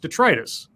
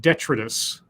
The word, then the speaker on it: detritus: of stuff so I I understood the word to be pronounced detritus and I had an ex-girlfriend who called it d'etre tiss and the first time